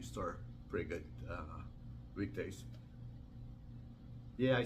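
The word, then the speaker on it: Tao: with him uh Ming da is an author of this book and he mentioned actually even though it says T AO it's supposed to pronounce da instead of ta so I I told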